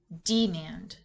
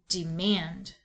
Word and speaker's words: demand: The word is demand. So when we divide words with VCV and accent the first syllable and that doesn't work, shift the accent to the second syllable.